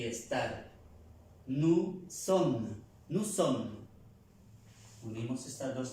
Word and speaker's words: sommes: Y para nosotros, la primera persona del plural, nous sommes, nous sommes, nous sommes. Vemos que aquí hay dos S, ya la pronunciamos como una S normal. Nous sommes, nous sommes, nosotros somos o nosotros estamos.